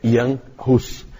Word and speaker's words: Jan Hus: E aí, então, é outra língua que a gente não conhece, não sabe como pronuncia, mas a pronúncia é Jan Hus.